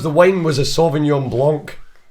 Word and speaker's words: Blanc: Right, and he was like, it's pronounced Blanc.